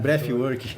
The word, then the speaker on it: breathwork: Fala com F mesmo, breathwork.